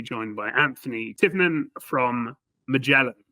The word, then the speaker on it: Magellan: In in Europe and abroad, it's usually Muelan. Uh and uh but the the pronunciation is Mellin Jets.